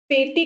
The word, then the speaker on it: petit: ये जो पेटी जो वर्ड है ना, ये एक फ्रेंच वर्ड है। French word, actually French word का जो स्पेलिंग है वो कुछ ऐसा है, PETIT, ये है वो वर्ड, ठीक है, जिसका मतलब